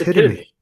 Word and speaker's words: epitome: Did you say epitome? Blade. Did you say epitome? Epitome. It's epitome. What epitome's a word, right? Yeah, but it's pronounced epitome.